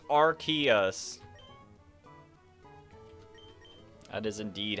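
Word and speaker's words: Arceus: It's pronounced Archus.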